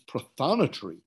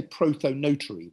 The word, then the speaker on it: prothonotary: gonna have a go I think when I've heard it in the states it's prothonitary warbler or I'd say protonotary warbler because I'm English but I think it's